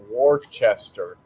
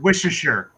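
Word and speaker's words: Worcester: and uh dave says seth probably doesn't even know how to pronounce warchester yeah it's pronounced wisheshere oh then yeah he's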